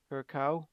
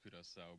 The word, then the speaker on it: Curaçao: You made a good point, Jens, which is that we haven't touched on Curacao, if that's how you pronounce it. It's pronounced Curaçao, but pronounce it however you want.